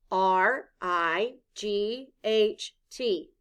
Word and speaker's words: right: it out loud together r i g h t the letters i g h stand for the long i sound i blend with me